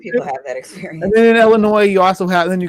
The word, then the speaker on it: Illinois: a contradiction fun fact about illinois you don't pronounce the ass god damn it yeah illinois oh okay come across the goddamn atlanta could